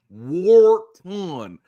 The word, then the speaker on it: Wharton: you know the you the way you say tan Wharton's name is Warton tan Wharton interestingly enough